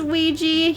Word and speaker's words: Ouya: And this is Ouija. It's spelled Ouya. Ouya. Oh, yeah. He's the smaller boy. Yeah, Ouija is in like the Wega board.